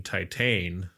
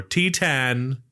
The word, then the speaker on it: Titane: And then when I brought that up, he said, "Had you have you seen Titan or T10 as we now know it is correctly pronounced body horror movies?"